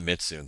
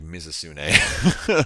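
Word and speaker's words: Mizutsune: and I'm like, yo, that's not Mitsune, that's like Mizusune.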